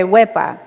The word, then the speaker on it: WehPah: it is or it's pronounced way by but how would you say it you're supposed to carry the e for as long as you can and carry the a just as long so I won't scare you but you can think of it where so it's an expression of excitement kind of how Greeks say OPA Porter we can say WIPA so it's supposed to